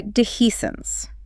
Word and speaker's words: dehiscence: We might see dehiscence. This is a tricky one to spell and say. Pronounced d he s ence.